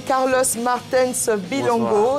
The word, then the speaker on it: Carlos Martens Bilongo: On va l'inviter à s'installer, Carlos Martens Bilongo. J'espère que je prononce bien.